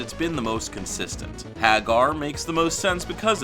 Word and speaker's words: Haggar: of the last name, it causes a long A sound, proving at the very least that the last name is pronounced Haga. Now I know there will be skeptics that will say, but we don't live in Japan. That's true, but if the last few games have English voiceovers saying Haggar, I feel like that's evidence enough that we should be pronouncing it that way.